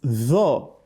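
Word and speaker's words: ط: Tho is a heavy letter. The back of the tongue rises up when you pronounce tho, whereas that of ta, it doesn't do so. The tip of your tongue touches the root of your upper teeth.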